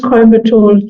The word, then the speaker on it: Coimbatore: You pronounced Coimbatore like a local, so well done.